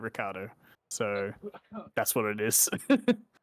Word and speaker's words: Ricciardo: that like people like Ricciardo or something like that, Yeah. and he's like, maybe that's the original pronunciation, but my family's Australian and we say it Ricardo, so that's what it is.